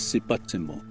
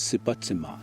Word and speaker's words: sipátsimo: The Niitstapi or Blackfoot name for sweetgrass is sipatsimo. Some pronounce it as sipatsima.